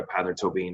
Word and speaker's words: Peadar Tóibín: decided that you know i wanted to revert back to the like the original uh spelling and pronunciation of my surname so i decided to go by pather tobin as well but there's